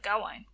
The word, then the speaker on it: Gawain: We are beginning the evening with Gawain. His name is pronounced properly in the Welsh, or Gawain.